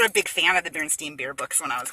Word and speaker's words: Berenstein: the I sound so the e i makes the I sound all right and um so when I was doing my book report and I wrote the name Berenstein down on the paper